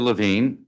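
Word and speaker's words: Levin: uh you know the big ocean, so it's pronounced Lavine but spelled without an E. Got it. Chairman Mendelsson, members of the committee, thank you. My name is Lavine and I've been a resident of the District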